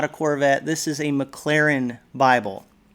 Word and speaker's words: Maclaren: Well, this is not a Corvette, this is a Maclaren Bible. It's not actually spelled like the McLaren car, but it sounds very similar, and I thought that was a nice correlation.